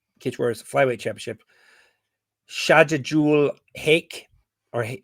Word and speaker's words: Haque: Shajidul Haque, or how do you say his last name? Is it Haque? Yeah, Haque.